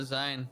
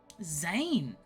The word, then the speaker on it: Zayn: later thank you and your name is uh Zion yeah Zayn oh my we do love a single syllable name don't we and uh